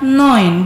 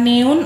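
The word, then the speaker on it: neun: makin terlihat Nah ya Jadi kita akan baca no in bukan neon apalagi neonnya lain lagi ke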